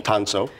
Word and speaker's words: Tansuo: of the restaurant so I say it correctly tonso tonso I love it all right so you're